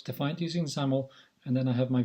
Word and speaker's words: XAML: XAML is pronounced as XAML.